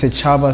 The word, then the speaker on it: Setshaba: Instagram, it's Setshaba, so it's SETSHABA _. So Setshaba _ on Instagram.